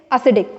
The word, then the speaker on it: एसिडिक: एसिडिक ठीक है ना तो सी पर ज्यादा स्ट्रेस आ जाता है यहां पर ओके सो केमिस्ट्री में पढ़ा एसिडिक एसिड या एसिडिक हो गया यह बहुत ज्यादा इसका टेस्ट एसिडिक है बट इ नॉट एसिडिक इ एसिडिक लराट तो बढ़ते हैं